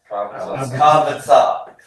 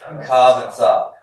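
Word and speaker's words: קָבְצָה: Pathak, but it reduces to vocal shava when I add the vocalic ending ah, and I get my method here next to the command. So how would I pronounce that last one? Kavatsa. Kavatsa. Good.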